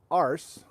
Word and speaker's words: ARSE: research and space exploration arse or as kathy has helped me understand pronounced in an australian way ah us thank you kathy so